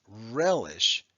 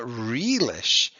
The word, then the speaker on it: relish: on the right well think about how we say the word we say relish it's a short e okay it's not realish so what we're going